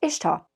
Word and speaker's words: Ishtar: correcting first a name it is to the best Reckoning of academics brighter than myself pronounced Ishtar not Easter second has status as